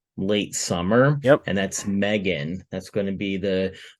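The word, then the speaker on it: M3GAN: So if you haven't heard about Megan, and it's weird how it's spelled. It's like M and then a 3 GAN.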